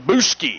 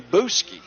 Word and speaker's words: Bousquet: center number 51 nathan how do you pronounce his last name boosky nathan boosky it's spelled bousquet that's what's throwing me off here i'm not brushed up on my french you got to get